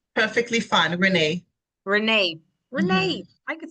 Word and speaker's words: Rene: Am I pronouncing your last name right? It's perfectly fine, Renee.